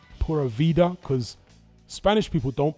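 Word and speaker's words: pura vida: It's like a cross between a B and a V.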